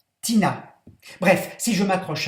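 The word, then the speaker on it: Tinea: Tina s'écrit T-I-N-E-A. C'est le nom savant latin de teigne, mais ça se prononce Tina.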